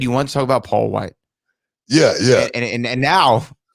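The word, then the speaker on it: Wight: show uh paul white even when i say paul white i go you know it's spelled uh w-i-g-h-t you know what it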